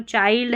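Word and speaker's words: child: चाइल्ड पढ़ेंगे, इसको ILD को आइल्ड करके पढ़ते हैं तो चाइल्ड है ये।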